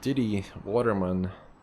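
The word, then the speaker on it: Didi Vatermann: We're going to go and visit Diddy Waterman. That's how you pronounce her name.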